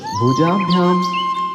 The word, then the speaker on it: भुजाभ्याम: फिर भुजाभ्याम। देखिए हमने भ के लिए 2 बार पढ़ा है, भुजाभ्याम। भुजाभ याम तो नहीं पढ़ा है ना।